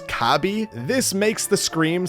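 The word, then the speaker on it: カービィ: his name and considering in Japanese Kirby is pronounce kabi this makes the scream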